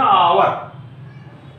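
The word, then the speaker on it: hour: यहां लिखा आवर, आवर का पहला अक्षर तो यच है लेकिन वो साइलेंट है, अर्थात आवर होते यच ओ यू आर, यच का ध्वनि हा से होता, लेकिन यहां पर यच साइलेंट तो आवर लिखा जाएगा आवर।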